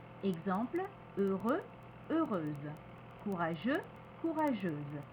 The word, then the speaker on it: heureux: ajoute le E exemple heureux heureuse courageux courageuse donc le X ne se prononce pas par contre on prononcera le se de manière très atténuée comme the the heureuse courageuse attention il y a des